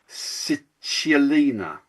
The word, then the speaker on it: Cicciolina: Touched by the Hand of Cicciolina.